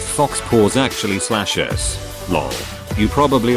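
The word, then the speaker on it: faux pas: like so far right it's pronounced Fox pause actually slashes law you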